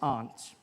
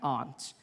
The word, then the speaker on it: aunt: you by for instance I pronounce the Opposites of Uncle as aunt I say my aunt out here you say my aunt which to me is an insect which made me look like an ass when my friend told